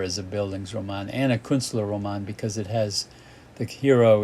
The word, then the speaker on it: Künstlerroman: Künstlerroman.